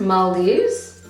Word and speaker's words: Maldives: Yeah, and for our honeymoon we went to the Maldives, or as I learned it was pronounced Maldives. That is how the locals say it.